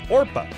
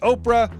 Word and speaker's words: Orpah: Her given name was Orpah, a reference to the biblical figure in the book of Ruth. As a baby, people regularly mispronounced the name as Oprah, which eventually stuck.